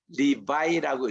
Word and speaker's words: Levi: 그래서 우리 레위인 할 때에 그 레위 할 때 L-E-V-I 이거를 영어로 리바이라고 읽습니다. 리바이.